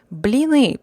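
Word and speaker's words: блины: russian cuisine of course blinny crepes blini pronounced bli ne with the last vowel sounding like the uh e in the word it bleed appears as a thin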